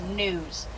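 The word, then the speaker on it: gnu: in European countries as news just from the sound the animal actually makes of course it's going to be spelled G nu then G is silent but a cow goes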